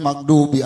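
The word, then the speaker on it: الْمَغْضُوبِ: Huruf wau di akhir bacanya giriril magdubi alaihim itu bukan huruf Dal tapi huruf dood ketemu wau jadi bacanya magdu ma dimonyongin Pak kayak orang sambil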